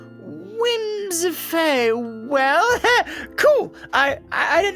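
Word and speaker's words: Whimsiphae: what the lore says whims that's how it's pronounced but with w-h-i-m-s-i-p-h-a-e wins faye well cool i i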